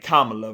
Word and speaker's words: Kamala: CA herself Kamala herself I better say her name right kamla before I get roasted in the comments but anyway um kamla